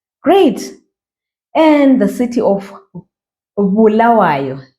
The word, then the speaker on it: Bulawayo: And the city of Bulawayo. Pronounce it just like that. Bulawayo.